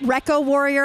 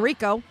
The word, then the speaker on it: Reco Warrior: teams here Rico sailing or is that Reco Warrior I've been saying it wrong the entire game Reco Warrior I don't know why I've been saying Rico so Reco working on